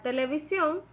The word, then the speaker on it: televisión: Y de la palabra televisión, la sílaba tónica es sion, porque es ahí donde recae la mayor fuerza del voz al momento de pronunciarla.